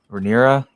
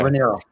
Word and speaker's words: Rhaenyra: Jace was very royal, and I think losing him is going to be a bigger problem for Rhaenyra than she realizes, because she hasn't been taking a lot of his advice.